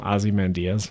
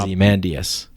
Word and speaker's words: Ozymandias: Have you ever read the poem Ozymandias? Yeah. Yeah. Can I read that poem? Yeah, of course, yeah. Yeah. How do you feel pronounced about when it people as stop? Ozymandias.